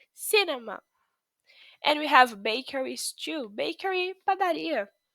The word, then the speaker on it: cinema: Pay attention to the pronunciation of cinema. Okay? We say cinema.